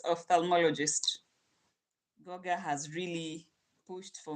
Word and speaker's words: ophthalmologist: Goga, I've pronounced it for you. Now you can say it. It's ophthalmologist.